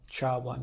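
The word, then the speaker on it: SHA-1: function is sh one you might hear sh1 sh one is how it's pronounced and that is 160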